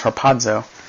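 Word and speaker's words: ἁρπάζω: Well, that word translated caught up is harpazo. And it's not spelled with a D, but it's pronounced with one because Greek.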